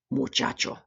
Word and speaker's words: muchacho: how we get the ch sound, as in muchacho, muchacho.